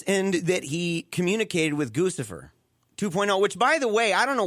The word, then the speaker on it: Guccifer: he does this, but he calls it Crucifer. It's I don't know. He's mispronounced it. Has nobody mentioned to Roger Stone, dude, you're pronouncing the name dramatically wrong.